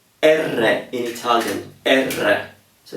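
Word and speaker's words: erre: it's r r now this one is called ER in Italian ER so it's spelled e r r e ER now why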